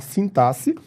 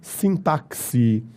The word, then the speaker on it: sintaxe: t a x e você pode falar do jeito que eu acabei de falar sintasse ou você pode pronunciar também sintaxe existem formas variantes para pronncia o x aí desta palo com som de c ou com o som de Kis então vocêde ler sass